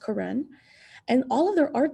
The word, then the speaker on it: Karen: they're karen it spells like karen but it's pronounced karen and all of their art that they made